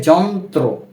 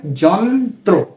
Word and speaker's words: যন্ত্র: ব্যঞ্জনের সাথে র ফলা ব্যবহৃত হয় সেক্ষেত্রে এর উচ্চারণটা হয় উদাহরণ হিসেবে এখানে রয়েছে যন্ত্র যেমন জ ন সংযুক্ত ত র ফলা কি হয় যন্ত্র যন্ত্র আমরা কিন্তু ত র ফলার উচ্চারণটা করছি যেমন